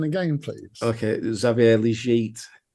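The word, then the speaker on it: Xavier Legette: pronunciation again please okay zavier leit one more time zavier leg zette he French don't you know so zavier liette uh yeah oh [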